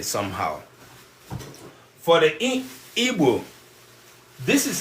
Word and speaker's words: Igbo: An erroneous pronunciation of Igbo people as Igbo. It is because these diagrams, the word Igbo has a diagraph, and non-Igbo people usually find it difficult to pronounce our diagraph.